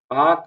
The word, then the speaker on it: Palk: देख लो पाक स्ट्रेट, देखो इसका स्पेलिंग अलग है ना, PALK, इसी को कहते हैं पाक जल डमरू मध्य, ठीक है।